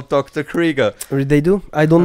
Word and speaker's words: Krieger: then interrupted yeah sadly dr. Krueger yeah Krieger Wrigley's don't mispronounce his name Sorry Sorry oh yeah by the way for those people who don't know what dr.